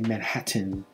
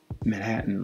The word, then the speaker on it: Manhattan: usually we don't say manhattan that's most esl speakers will pronounce it exactly the way it looks manhattan but of course natives uh pronounce it manhattan like spinning spitting spitting